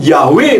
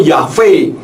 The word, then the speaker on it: Yahweh: Indonesia orang mengatakan yhfh seharusnya membacanya bukan yahwe tetapi yahb atau yahve memang kalau di dalam